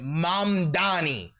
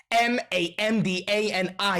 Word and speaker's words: Mamdani: Zohran Kwame Mamdani. M A M D A N I. The name is Mamdani.